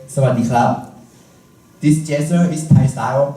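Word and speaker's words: สวัสดีครับ: Everyone put your hand together, bow your head down, and say, "Sawadee krab." Now, let's do it slower by syllable. Say after me. Sa. Wat. Di. Krab. Then connect them together as Sawadee krab.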